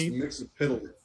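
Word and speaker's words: Mxyzptlk: It's pronounced Mixapitalik.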